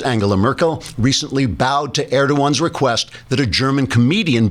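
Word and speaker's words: Erdoğan: Merkel recently bowed to air to one's request that a German comedian be prosecuted for insulting the turkish President personally I'd have told air21 to add stuffed the gia silent trigger warning I'm Andrew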